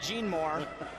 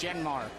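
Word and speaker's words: Jeanmar: I would have pronounced that Gene Moore Gomez and Rose. But Kevin, it's not that. It's Genmar. Yeah.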